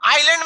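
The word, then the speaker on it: island: आइलैंड में क्या silent रहता है?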